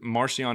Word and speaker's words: Marcion: So it would make sense that Marcion is almost using Paul as like his pseudonym, if you will, which kind of makes sense. Marcion means, or it literally called Markion, or pronounced Markion back then.